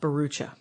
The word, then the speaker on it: Bharoocha: Excellent, Bharoocha. There we go. I've spelled it out phonetically like I should have a half an hour ago.